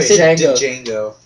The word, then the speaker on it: Django: that a great movie Django Django that's how it's spelled the D is silent D I just want